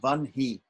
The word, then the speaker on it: Vahni: For instance, the word for fire, another word for fire is Vahni, V-A-H-N-I, and apparently it's pronounced Vanhi.